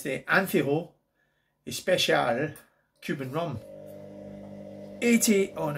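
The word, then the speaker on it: Añejo: Anejo.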